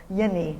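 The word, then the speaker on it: Jenni: first lady of Finland Jenny HGI told us that she um Yenni HGI to pronounce it correctly um that she uh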